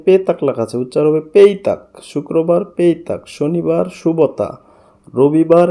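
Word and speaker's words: petak: শুক্রবার পেতাক এখানে পেতাক লেখা আছে উচ্চার হবে পেইতাক শুক্রবার পেইতাক শনিবার শুভতা রবিবার নেদেয়া এইযে দেখুন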